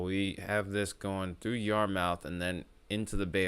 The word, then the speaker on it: Yarmouth: I bet you it's probably pronounced as Yarmouth. I'm willing to bet it's probably pronounced as Yarmouth. Almost certain of it. Because remember, the dominant language outside of English in Canada is French. So it would not surprise me if that's how it's pronounced.